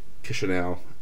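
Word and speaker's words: Chișinău: Romanian friends taught me the pronunciation of Chisinau is that it's C-H. No, C, it's like a C-I, but it's actually spelt C-H, and then the other part is like it's S-H in English, but it's S-I.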